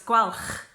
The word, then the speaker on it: Gwalch: So it's gwalch. So gwalch gem. But I mean, if you struggle, just say gwalch, which is what most English people do when they try and pronounce that name.